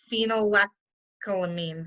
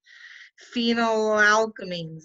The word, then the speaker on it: phenylalkylamines: They're called the phenylethylamines. I can never say that right. Phenylalkylamines, there, I said it right.